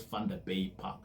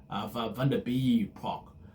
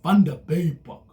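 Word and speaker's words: Vanderbijlpark: Like I used to call this Thunder Bay Park. Vunder bay park. Uh so it's a fun bay park.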